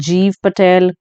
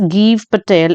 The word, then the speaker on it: Gieve Patel: ठीक है बहुत सारे लोग इसे जीव पटेल जाव पटेल ऐसा कुछ कहते हैं बट रिसेंटली मैंने इनका एक इंटरव्यू सुना है तो जिसमें इंटरव्यू में ओबवियसली पर्सन अपना नाम तो ठीक ही बोलेगा तो इट्स गीव पटेल इट्स नॉट जाइब और जीव okay and this poem in